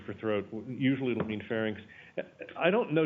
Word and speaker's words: pharynx: throat usually it'll mean pharynx I don't know does anybody ever hear this pronounced as farnics I should hope not no that's good I